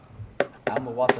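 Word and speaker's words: Muwatta: u w a t I'm water like bottle water yeah okay for sure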